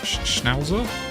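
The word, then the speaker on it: Schnauzer: Miniature Schnowzer. That's how that's pronounced.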